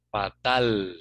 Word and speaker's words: fatal: Fatal, ¿no? No olvidándonos pronunciar bien la última letra también, ¿no?